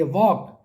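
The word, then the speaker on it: walk: silent है third देखिए वॉक इसमें एल साइलेंट है तो एल को सर्कल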